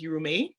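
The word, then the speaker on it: Yurumein: um in this map that is better pronounced as urumi um that's the indigenous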